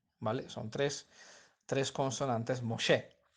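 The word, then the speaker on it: משה: son tres tres consonantes moché como se suele leer porque el H final nunca se escucha no nunca se pronuncia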